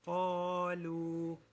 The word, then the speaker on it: قالوا: Lam is light, قاف is heavy. So don't say قالوا. This is a very common mistake. Don't say that. قالوا. That's a mistake. It's قالوا.